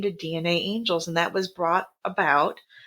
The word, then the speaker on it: DNAngels: It is DNA angels. You pronounce both A's, but you only spell it with one.